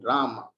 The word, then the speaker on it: Rama: pronounced as krishna and rama rhymes with drama or sanskrit words hare